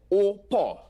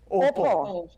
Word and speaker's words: au port: In Patois, it's au port, meaning literally Au at the port. port. Au port. All right, Okay. so let's say that together. Au port. Opo.